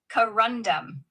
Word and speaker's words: corundum: The British pronunciation of corundum is typically corandum. Here's the breakdown. C short like saying cut but softer. Run rhymes with fun stressed a bit.